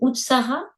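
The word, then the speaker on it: utsāha: C'est Utsara, l'enthousiasme? Oui. Utsara. Utsara, on s'écrit U-T-S-A long H-A, Utsara.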